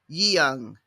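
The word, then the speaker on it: Yehun: So this is Yeung. Yeung. Y-E-H-U-N. Y-E-H-U-N with the emphasis on the un part.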